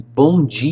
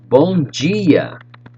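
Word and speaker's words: bom dia: expressions for you check it out good mornings bonji you say with me bon gia boa tagi let's go one more time check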